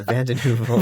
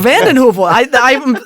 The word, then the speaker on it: VandenHeuvel: Yeah, VandenHeuvel. VandenHeuvel. I'm so proud of myself I pronounced the last name correctly.